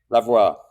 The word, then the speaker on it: Lavoie: Today on the Lions Guy podcast, we've got Seb Lavoie. Did I say it right? Lavoie.